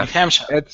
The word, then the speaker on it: New Hampshire: That's our New Hampshire is correct pronunciation, but I lived in a neighboring state to New Hampshire for a lot of my lifetime, and in the neighboring state Vermont, we called it New Hampshire, just as a silly nickname.